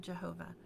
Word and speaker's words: Jehovah: And now you know why in some texts, and some people still will pronounce the name of God, Jehovah, and others will pronounce it Yahweh.